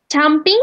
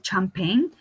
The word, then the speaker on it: champagne: So let's correct your pronunciation for champagne. Champing? Okay. No, it's a champagne.